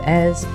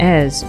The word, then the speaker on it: Èze: the captivating Village of EZ join us today on our adventure as we explore n and EZ or as the Americans say nice and easy I would like to